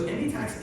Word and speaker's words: Endiatx: So Endiatx is a very interesting company because we've heard